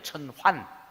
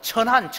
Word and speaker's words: 천환: 천원이 아니고 천환. 또 어떤 분은 천한 이래서 하는데 천한이 아니고 천환. 발음을 잘해야 돼요.